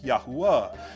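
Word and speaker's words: יהוה: wow, hey, yod, hey, wow, hey, which is pronounced Yahwa.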